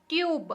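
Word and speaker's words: tube: जैसे कि बिना ई के हम इसको टब पढ़ेंगे, टब पढ़ेंगे, राइट।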